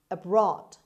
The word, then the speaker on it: abroad: number five abroad abroad abroad as you see the stresses in is on b sound abroad so it's on the second syllable means outside one's country